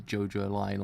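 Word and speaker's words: JoJolion: But now actually know it's JoJo Lion or something kind of in that way.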